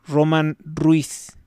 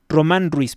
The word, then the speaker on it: Román: Luego está el caso de Roman Ruiz, Román Ruiz, perdón, porque tiene acento en Candelaria Los Lojicha en el estado de Oaxaca.